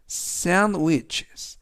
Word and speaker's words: sandwiches: 그런데 발음에서 유의하실 점은 샌드위치, 우리 말로는 샌드위치이지만 영어에서는 D 발음이 묵음은 아니지만 거의 발음이 되지 않습니다. 그래서 샌드위치보다는 sandwiches 라고 발음하시면 되겠고요.